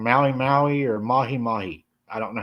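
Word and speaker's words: mahi-mahi: Tracy said it's pronounced mahi mahi. Oh, Tracy said it's mahi mahi.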